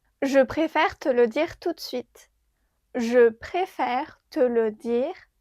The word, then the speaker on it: tout de suite: Je préfère te le dire tout de suite. I'd rather tell you right away. Tout de suite means right away. Be careful. Here we don't pronounce the e in de tout de suite.